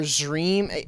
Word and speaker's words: Xream: It's made by an artist, goes by Xream or Zream. It's like dream, but it's spelled with an X.